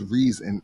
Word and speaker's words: Reson: up with reason because my middle name has a long e sound so the r-e-s-o-n you know without the a you know people say present but it's a long e so it's reason and then the one